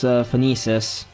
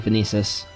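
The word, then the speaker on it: Phoenicis: But I think the right pronunciation is Phoenicius. I think in Radiant Dawn the narrator actually said it like this, so I'll try to stick to Phoenicius.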